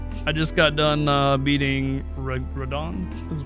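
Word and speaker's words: Radahn: I just got done beating Radon. Is how you say his name? Yeah, Radon.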